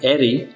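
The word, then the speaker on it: aerie: एरी, एरी, दोनों वर्ड्स के pronunciation same है। पहला जो वर्ड है एरी, जिसका स्पेलिंग है ए ई आर आई ई, जिसकी मीनिंग से ऊंचा नीड़, शिकारी पक्षी के अंडे, बच्चे।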